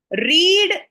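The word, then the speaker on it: read: पुट पुट पुट कट कट कट रीड spelling में same रहता है। लेकिन जब हम प्रोनाउंस करते हैं तो it changes रीड रेड रेड।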